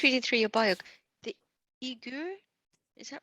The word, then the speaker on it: Uyghur: The Uyghur, is that right? Uyghur. Uyghur. Oh, Uyghur. Is that how you spell it? That's one way of spelling it. There we go. Student Mandarin Chinese, Uyghur, and Russian.